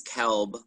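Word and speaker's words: Kielb: it's uh it's kelb um the i is silent it's a tricky one um it's uh k-i-e-l-b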